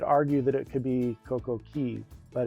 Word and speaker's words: Coco Cay: Before the facelift of Perfect Day, Royal Caribbean pronounced it Coco Key, which is the correct pronunciation of the Keys.